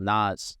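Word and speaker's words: Knas: And I remember Steve Angelo released a song called Nas. Y'all remember Nas? No. It's spelled K-N-A-S.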